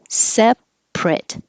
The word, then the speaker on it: separate: ate a sandwich eight if it's the adjective it changes to two syllables separate and now the ate sounds like I T it separate and you don't say the T I should put that little Mark there too because you don't say that t separate separate so if